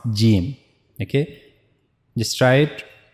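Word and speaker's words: جيم: Here you can see this is the middle of the tongue and we have to connect this to the roof of the mouth. So that's how we have to pronounce gimm.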